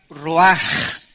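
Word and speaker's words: רוח: Roach que se pronuncia raj la ch en el hebreo se pronuncia como j y que es la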